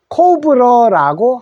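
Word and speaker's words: cobra: 근데 영어 발음은 어떻게 될까? 코는 똑같은데, 그죠? 오자가 오우 소리도 나거든요. 그래서 코우로 읽어주십시오. 코우, 부, A자는 오. 그래서 코브러라고 합니다. 코브러.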